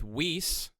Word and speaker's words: Weise: do that, with Meredith Weise. I think I got your name correct, which I've really been working hard to say that right. Rhymes with geese.